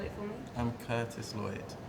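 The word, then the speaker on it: Kurtis: all let me ask you your name and spell it for me I'm Curtis Lloyd k u r t i s l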